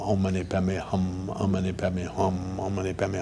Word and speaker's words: Om mani padme hum: then finally do it in the proper sanskrit pronunciation Oh mani padme hum om mani padme hum oh man he bet